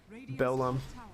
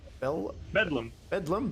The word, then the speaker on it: Bedlam: The Beldlum. How do you say it, guys? Bedlam. Beld. Why am I putting the L first?